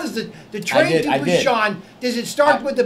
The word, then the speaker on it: Busan: Well, we're supposed to correct the pronunciation of Train to Busan, which starts with a B, not the P.